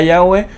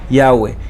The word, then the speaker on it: Yahweh: Y de acuerdo a lo que vimos, la pronunciación de las 4 letras hebreas, Yod-Heh-Vav-Heh, probablemente es Yahweh.